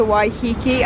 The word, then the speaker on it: Waiheke: This is where you can get a ferry to Waiheke, I believe that's how it's pronounced, island from.